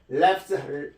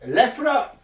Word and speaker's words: laugh: 자, 그 다음, he laughs best who laughs last. 자, 요게 영어에서는요, 요게 laugh라, 미국식 발음은 laugh지만 영국식 발음을 laugh라 합니다.